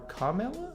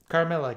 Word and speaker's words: Carmilla: actually predates dracula uh i want to say her name was carmilla or carmella maybe carmilla got it in one that does being bit